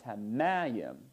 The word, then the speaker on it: hamayim: Well, in mayim, it's hamayim, and so the stress is on the syllable before the last syllable, so the pashtik is repeated over the accented syllable.